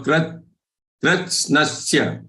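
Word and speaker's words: कृत्स्नस्य: So pronunciation should be krit. You will say krit as if there is half the is joined with kr. Krit, and then you say sna. Krit, sna, and then sya. So krit, snasya, krit, snasya, krit, snasya. That's how it should be pronounced.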